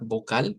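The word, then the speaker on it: Vokal: Vamos a decir vocal. Vocal con una a más larga. Y el énfasis es en la K. Ve ahí es la fuerza de voz.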